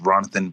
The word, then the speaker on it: Ronathan: The representative from showing the system here, the one that you spoke to, is Ronathan Bastardi. That's like Jonathan, but Ronathan with an R as in Randy.